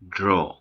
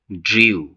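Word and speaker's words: drew: হচ্ছে গ্রু grow গ্রু তারপর হচ্ছে ড্র পাস্ট টেন্সে এর ভুল উচ্চারণ করে থাকি ড্রিউ কিন্তু এর সঠিক উচ্চারণ হচ্ছে ড্রু ড্র ড্রু আমি আবার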